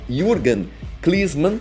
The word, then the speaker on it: Jürgen Klinsmann: interessante entre o alemão Jürgen Klinsmann, peguei até aqui para falar a pronúncia correta, que eu falei errado no último vídeo, né? Então, Jürgen Klinsmann, tá?